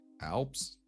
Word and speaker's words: Alp: pronounce it actually correctly alps yes like the mountain oh oh i guess